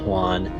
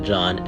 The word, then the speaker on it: Juan: juan's warning epstein told juan john they only want money and yes his name is juan not john epstein mispronounced his name lots of times juan's story doesn't seem